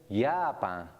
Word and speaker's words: Japan: as yacht Japan is spelled j-a-p-a-n as in English but pronounced yapa Judo one of Japan's